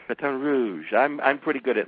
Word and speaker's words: Baton Rouge: all that I know you are you're in Bat Rouge did I pronounce that right yeah Baton Rouge Baton Rouge that's how they say it batan Rouge batan Rouge I'm I'm pretty good at lingu which by